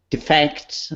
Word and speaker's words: defect: You did a really good job with your pronunciation of defect. Yeah. That's a very, very, very interesting part in English pronunciation. Defect is a verb, and defect is a noun.